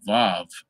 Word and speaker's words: vav: it's four letters is the VAV now that spell w-a-w but we pronounce it um v-a-w so a lot of